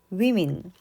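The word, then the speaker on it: women: 똑같습니다 맨 맨 주의하시고요 성인 여자 한 명 성인 여자들 발음이 다릅니다 한 명 a woman 성인 여자들 위민 아 한 명 a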